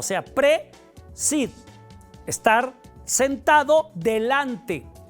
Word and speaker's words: prae: vez de decir prae aunque se escribe prae se pronuncia pre es como cuando decimos